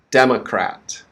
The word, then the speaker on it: democrat: e a e e a okay so first syllable next one mo last one crap de ma crat demma democrat democrat and this is the noun for a